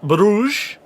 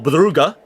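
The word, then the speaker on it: Brugge: Bayern Munich have just made it 4-0 against club Bruge or Buga as it's actually pronounced.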